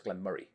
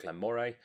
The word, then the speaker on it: Glen Moray: oh also on pronunciation A lot of people will call this Glen Murray um and some people will call it Glen Moray it looks like Mo to me I've heard it both ways by Scottish native Scottish